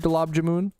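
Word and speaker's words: gulab jamun: love Galabjamoon, bro. It's amazing. I haven't. But I don't. Yeah. And I I looked up like how to like a pronunciation guide and they said galab jammoon.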